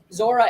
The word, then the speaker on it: Zuora: which will help with the next comment so zora is a software company and i know it's